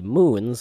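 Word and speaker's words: Mün: and then i'm going to look for the moons of kerbin there's two moons there's the moon pronoun spelt not pronounced spelled m and then the u with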